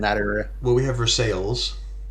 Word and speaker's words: Versailles: Well, we have Versailles, which you don't pronounce like the French. You pronounce the L's.